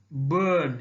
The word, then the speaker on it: burn: Burn, burn. Here also pronunciation is burn. R is silent.